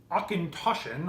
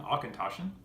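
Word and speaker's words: Auchentoshan: I have one which if you pronounce it phonetically is a concussion although the connect the correct pronunciation is Tasha rolls right off the tongue Arkan Tasha this is a from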